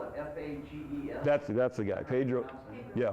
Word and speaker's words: Fages: They spell it F-A-G-E-S.